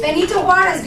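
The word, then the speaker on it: Benito Juárez: does it say president of Ja Bonito harez Benito harez good pronunciation bito harez was the president okay and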